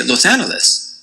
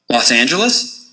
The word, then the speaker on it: Los Angeles: Should you say a hard G or a soft G? Los Angeles or Los Angeles? Should you end with a les or a lus? Los Angeles? Los Angeles?